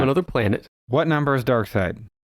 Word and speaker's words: Darkseid: But Darkseid is spelled dark, S-E-I-D. Oh. So it's like Darkseid.